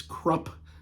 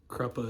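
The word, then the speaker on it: Kruppe: Amanda Rake, Quick Ben, Kruppa, which again, I know his name is Krupp. That's how the author pronounces it. Erickson says Krupp. Kruppa is what I've always called it.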